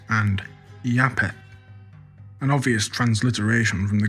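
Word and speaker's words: Japheth: Both originally being pronounced uh Yapitos and Yapetth, an obvious transliteration from the Greek into the Semitic word.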